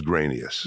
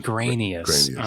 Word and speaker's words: Greanias: your last name father the english pronunciation that we use is grainiest grainiest okay i was thinking